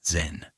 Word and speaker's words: Zen: Chan, which emphasized direct experience over scripture and text, traveled to Japan and became known there by the Japanese pronunciation of its name, Zen.